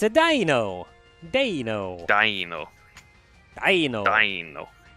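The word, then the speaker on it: Deino: It's a dino! Dino! Dino. Dino! Dino. Because it's the German pronunciation for ein.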